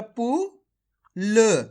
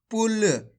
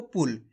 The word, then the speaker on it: पुल: इसी तरीके से पढ़ना आपको पुल। खींच के नहीं पढ़ना पुल। अगर आप खींच के पढ़ोगे पुल तो बड़ू ऊ की मात्रा का उच्चारण हो जाएगा, जबकि छोटू ऊ की मात्रा लगी हुई यहाँ पे तो कैसे पढ़ेंगे? पुल।